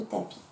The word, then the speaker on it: tapis: Le mot tapis. Il y a un S à la fin de tapis.